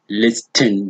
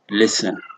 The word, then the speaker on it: listen: then the last one it's not listing but listen listen so these are just